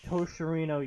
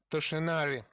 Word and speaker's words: Toshinori: is the nephew of Toshirino Yagi. Toshinari. Can you pronounce it right, please?